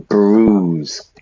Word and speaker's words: bruise: on your face bruise listen to the pronunciation bruise like snooze or Cru choose although there